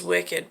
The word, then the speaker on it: WCKD: organization known as and they pronounce it as wicked but it's wckd he hopes to escape